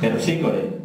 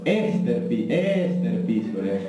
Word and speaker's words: Terpsícore: No, he dicho es Terpsícore. Ah, claro. Esther Piscor. Claro, ¿sabes lo que pasa? Es que esa es la pronunciación griega.